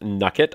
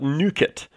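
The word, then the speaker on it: Nukkit: nugget or at least I've heard it pronounced nugget I personally like to call it nuke it I'm sure it's based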